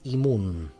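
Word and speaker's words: אימון: Primero que todo, nosotros tenemos un concepto muy importante en la Cábala que es Imun. I-M-U-N, pero claro, en hebreo se escribe diferente, pero bueno, así se dice en castellano.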